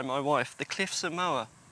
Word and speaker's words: Moher: wife the cliffs of moa as in i'm gonna run her over with the mower apparently that's how you